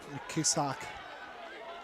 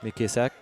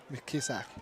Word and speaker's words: Mckisak: The first wheel look and it might taken by Paige Mckisak. How you say it? Mkisak. Mkisak.